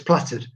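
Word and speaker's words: plaited: It's spelt plated, but it's platted.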